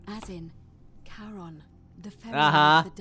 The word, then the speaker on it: Charon: It's just as you described it, only your pronunciation is a little off. The name you heard wasn't Karen. It was C-H-A-R-O-N. Charon. As in Charon, the ferry Uh-huh.